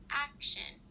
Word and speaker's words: action: In a word like action, you would place the stress at the beginning of the word before the sh. This sounds like action, so the ac part is emphasized while the TION is not.